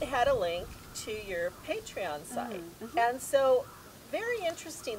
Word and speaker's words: Patreon: might be mispronouncing that i think that's patreon yes because it's paint patron patron yeah we'll eat in there